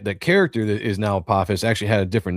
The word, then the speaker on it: Apophis: Is it Apophis? Apophis, yeah. So in Egyptian mythology, Apophis is a god, but the reason why I have that name in the book is that the character that is now Apophis actually had a different name to begin with